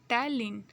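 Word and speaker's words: टायलिन: Okay, P silent होता है, टाइलिन.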